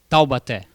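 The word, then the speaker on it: Taubaté: Tawbate. Tawate. Yeah. Oh that's great pronunciation.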